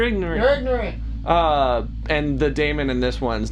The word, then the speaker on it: daemon: I've heard that pronounced two ways, and I'm not sure. It's I say daemon because that's how it's daemon spelled. Makes more sense, but everyone that I've had some training and things like that from people that have been around a lot longer than I have that call it demon, and I'm not sure which the official pronunciation of it is.